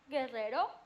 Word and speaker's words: Guerrero: But if it doesn't have a diéresis, it's silent. Silent. Guerrero. Queso. Guerrero. Guerra. Guitarra. Queso. Oh. Vergüenza. Vergüenza. Lingüística. Unless you see the diéresis, you don't pronounce that U.